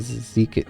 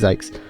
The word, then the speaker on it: Zykes: Zykes, or is it Zeke? No, it's Zykes.